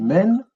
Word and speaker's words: mn: En fait, on dit men, mais c'est MN.